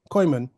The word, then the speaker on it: Kooyman: On the other hand, your colleague Jerry, who's also known as Gerald, Kooyman, or Kooyman, is that how you pronounce Oh, your name? Kooyman, you Kooyman, yeah.